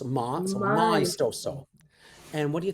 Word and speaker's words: maestoso: And I'm going to ask you to try and pronounce it as well. Oh, maestoso. So close. Maestoso. So Maestoso.